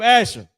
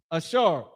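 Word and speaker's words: אשר: The people that Donald Trump just ran down on uh Brazil, the tribe of Asher, Ashar in the Hebrew.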